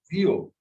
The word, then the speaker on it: vieux: It ends in X. This one is very common. V-I-E-U-X. Vio. We cannot say vios. It is VA. X is pronounced at the end. Only F, R, L, C.